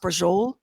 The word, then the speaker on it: Braciole: It looks like braccioli. Yeah. But it's pronounced brajol. Oh, buddy, is it good.